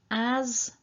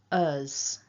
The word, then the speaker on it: as: quickly as i can the two uses of as here are pronounced us with the weak form because they're just part